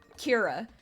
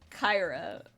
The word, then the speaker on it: Kyra: single time uh it they always pronounce it like Kira it's Kyra which is kind so